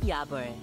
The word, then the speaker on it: Yabul: Anytime, anywhere, with Yabul. And yeah, so the Yabul is how she's pronouncing it properly, not my bad pronunciation.